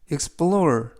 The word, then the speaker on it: explore: 뜻이 되겠습니다 이번 표현은 explore explore explore이라고 발음하시면 되겠고요 이때 엑센트는 알파벳 5에 강세가 있습니다 그래서 explore이라고 발음하시면 되겠고요 품사는 동사 뜻은 답사하다